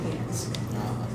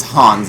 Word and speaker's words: Hans: in die hard but he was just pronouncing hands no his name in the his canonical name is hans and spongebob oh i